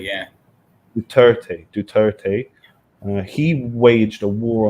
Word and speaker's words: Duterte: say his name i don't know how you pronounce it duterte yeah duterte duterte he waged a war on drugs over